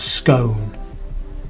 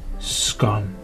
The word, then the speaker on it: scone: Too late, scone. Not scone, scone.